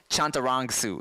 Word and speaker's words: Chantarangsu: Do I say it right now? I've been it's Chantarangsu. It's you're like 90%. You're so close. See, when I say it fast, I was Tim Chantarangsu. So it's Chantarangsu.